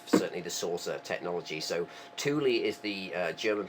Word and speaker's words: Thule: So um it's the Germans pronounced it Tuli I believe.